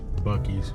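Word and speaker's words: Buc-ee's: We are at Boosie's. Bucky's. We call it Boosie's. They wanted me to pronounce it with a K. They'd have put a K in it.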